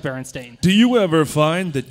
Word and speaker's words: Berenstain: You're like the people who think that Berenstein Bears are pronounced Berenstain. But they are pronounced Berenstain.